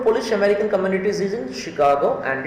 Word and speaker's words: Chicago: of this world is chicago remember chicago okay she sh um the spelling is ch but pronunciation is sh shi chicago one of